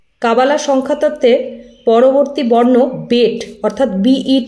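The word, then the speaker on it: Bet: বিটি যে উচ্চারণটা হচ্ছে সরাসরি বেট কথাটাকেই উচ্চারণ হবে এবং বি অর্থে বেট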